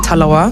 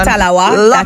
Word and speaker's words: talawa: Jamaicans they have this saying Li but with talawa yes did I say it right definitely little but with talawa is it so explain to us what that